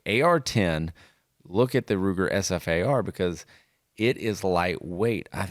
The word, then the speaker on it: SFAR: Ruger and the Ruger sfar you do not pronounce it Safar or so far it's really good but